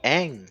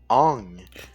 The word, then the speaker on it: Aang: Genre, c'est pas Aang, c'est Ong.